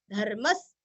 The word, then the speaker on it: धर्मः: को धर्म, अभी विसर्ग है यहाँ पे हल्का सा स, धर्मस, धर्मस।